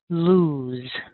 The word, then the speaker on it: lose: simply loose loose loose now don't get confused because l e without the two o's is lose it's almost the same as loose the only difference is that final sound has a voice Z lose lose so l o o e is loose with an s l o s e is lose with that ZZ sound loose and lose and